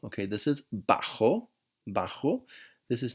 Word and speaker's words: bajo: study this week okay be careful with some pronunciation this is not bad Joe okay this is bajo bajo this is not Generoso this is head